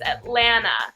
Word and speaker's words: Atlanta: It's Atlanta. It basically just separates the sound between the N and the A.